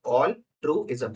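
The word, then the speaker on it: altruism: देखो ऑल ट्रूइज्म जैसे ट्रेपेजियम में होता है ना, उस तरह से आपको प्रोनाउंस करना है ऑल्ट्रइज्म।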